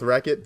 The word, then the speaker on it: Rechot: How do I pronounce my name? I go with Wreckit, but I made this so long ago.